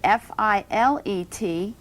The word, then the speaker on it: filet: you're speaking about meat cookery the French word fil ET it's pronounced filet and that's the proper way to